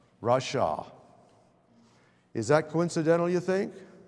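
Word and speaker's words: רשע: That was the morally wrong person, and how they show the pronunciation of it is R-A-W-S-H-A-W. Rasha.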